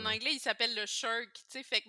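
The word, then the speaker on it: SSHRC: anglais, il s'appelle le SHIRC, tu sais, fait que même quand ça se prononce SHERC.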